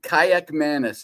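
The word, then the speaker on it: Kaliakmanis: have to pronounce his name, but um, Aan Kayak Manis is how it is pronounced is my understanding.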